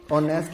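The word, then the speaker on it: honest: अगर sound vowel है, जैसे ऑनेस्ट में फर्स्ट लेटर एच जो है वो साइलेंट होता है, ऑनरेबल में फर्स्ट लेटर एच जो होता है वो साइलेंट होता है, इनको हम प्रोनाउंस नहीं करते हैं।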